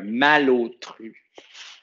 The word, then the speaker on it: malotru: un mot comme un mal-autru donc un mal autru je vais le décoder ça se prononce malautru mais c'est pas c'est